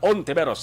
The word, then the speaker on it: Hontiveros: Era mga pronunciation sa isa ding family name nga Ontiveros, silent H.